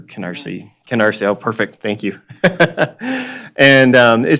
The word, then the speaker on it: Canarsie: It's called I'm going to mispronounce it because I'm unfortunately not a New Yorker, but the Canarsie approach, or Canarsie.